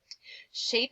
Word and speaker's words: shape: know why tell me shape is the only word on this list with this mysterious silent e at the end that's making that a say its long sound its name cat fan map shape yeah it has that long a sound all right I think